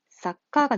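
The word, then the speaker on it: さっか: 그러면 카행에 속하는 거니까 이거 그대로 가져와서 받침이 어떻게 된다? 그렇지. 사카가 됩니다, 사카. 사카는 무슨 뜻이냐면요.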